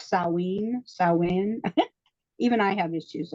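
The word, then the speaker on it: Samhain: it's written it's written Sam ha but it's pronounced saen sa even I have issues it's okay and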